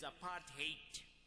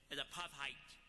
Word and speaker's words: apartheid: vicious policy known as a part hate Americans have pronounced it rather nicely a path height but it would need to to be to hate apart apart hate